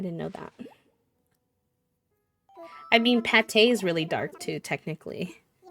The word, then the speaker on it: Pate: I thought her name was Pate because they didn't put an accent on the E, but I guess in